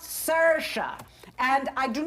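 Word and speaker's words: Saoirse: hello I am Sasha s-a-o-i-r-s-e it's pronounced Sasha and I do not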